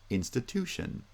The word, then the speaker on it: institution: first syllable ceremony ceremony in institution stress is still on the first and third syllables but this time primary stress is the third syllable and secondary stress is on the first syllable institution institution so again we have